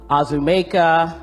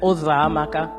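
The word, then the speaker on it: Uzoamaka: teachers or anyone neighbors try and say my name and it would be azumaka uzamaka uzokuza any version that they could think of other than ozra maka so i came home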